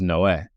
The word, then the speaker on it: Noe: So in Italian, it is Noé, like you've been saying. Probably in Spanish too, I'm guessing, right? It's the name Noe, Noah yes. from the Bible, right? Noah. But yeah, in English, it's Noe. In Italian, it's Noé. But either way, I don't have a preference.